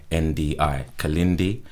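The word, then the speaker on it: Kilindi: I'll spell it for you. Yeah, K-I-L-I-N-D-I. Kalindi, and his last name is E, spelled I-Y-I.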